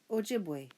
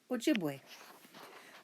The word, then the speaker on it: Ojibwe: You say it like this. Ojibwe. See? Ojibwe.